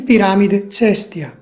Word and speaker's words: Piramide Cestia: In Italian it is pronounced Piramide di Caio Cestio or simply Piramide Cestia.